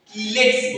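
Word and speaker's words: chelate: सिलेलेटिंग्स लिगण्ड कहते हैं किलेक्स बोलते हैं उसको सी एच से उच्चारण होता ही है क से होता है किले ये बार-बार पूछता है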